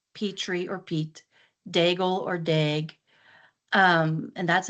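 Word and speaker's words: Daigle: she likes and she mentions Lauren and she pronounced it Lauren Deg and you know Lauren Dagel pronounces it Dagel and it's same last name.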